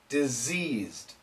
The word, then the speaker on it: diseased: there's also a difference in this case we say s and here we say Z why don't we just change the C to an s and the S to a Z so once again the